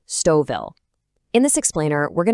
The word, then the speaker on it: Stouffville: And right off the bat, just so we're all on the same page, it's pronounced Stoville.